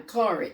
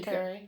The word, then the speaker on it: Curie: Because, and he was saying women in the world And you were saying Madame Curry. Am I saying it right? Madame Curry. Yeah, Marie Curie.